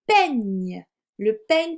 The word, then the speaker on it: peigne: Ensuite, j'avais demandé le peigne pour se coiffer, donc le peigne, le S c'est E et I. Et pour faire le son mieux, il fallait que j'utilise la lettre G et N ensemble.